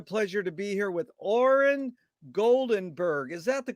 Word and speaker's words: Oren Goldenberg: honor and a pleasure to be here with oren goldenberg is that the correct way to pronounce it nailed it and oren where you